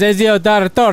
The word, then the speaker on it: Ezio: The one that you couldn't pronounce right there. Ezio. It says Ezio is a That's how you say you weirdo.